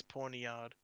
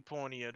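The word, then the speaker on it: Pawniard: i've heard before yeah i think it's porny yard i think it can be porniere probably as well but um muna and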